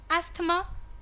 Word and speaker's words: asthma: There is no th. Th is silent.